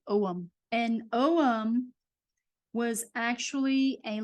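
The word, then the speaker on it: Ogham: so here is the OM script and the g is silent so it's own it's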